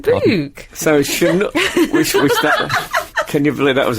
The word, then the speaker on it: Chinook: It should be Chinook. Chinook. Well, you know, I was mispronouncing the word correct for ages, and I was saying correct.